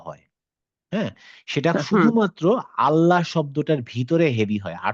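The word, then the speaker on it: الله: সেটা হচ্ছে লামটা হেভি মানে হচ্ছে লা এর উচ্চারণ লা না হয়ে অনেক সময় ল হয়। সেটা শুধুমাত্র আল্লাহ শব্দটার ভিতরে হেভি হয়।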